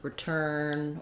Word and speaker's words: return: with e, but um if we're looking at a word with r e for example, like return or receive where it's not stressed on that e, that's also going to be an i sound.